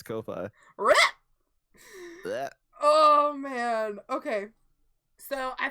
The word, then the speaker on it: Ko-fi: Is that how you pronounce that? As Ko-Fi? I've been calling it coffee. Yeah, it's Ko-Fi.